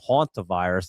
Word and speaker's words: Hantavirus: Hantavirus, that's how you say it.